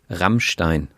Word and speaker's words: Rammstein: Yeah, we say Rammstein. Rammstein. But they roll the R, which Rammstein, which is something we actually don't do anymore.